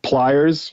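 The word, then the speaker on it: Plyrz: look for my studio, it's it's pliers, like a pair of pliers, except it's spelled like the '60s, p l y r z studios, pliersstudios@gmail is my uh email, which is fine.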